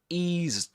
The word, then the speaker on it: eased: He says, he eased off the accelerator a little. Catenation here. Eased off, eased off, eased off. This is not pronounced as s, but z. Eased off with a long E.